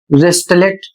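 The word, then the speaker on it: wristlet: अगला शब्द है डब्ल्यू आर आई एस टी एल ई टी और इसे पढ़ा जाएगा वेस्टलेट और इसका अर्थ होता है कंगन।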